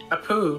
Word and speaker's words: Apu: Seriously, though, how does Abu feel about all the snakes being whacked? Abu? Apu.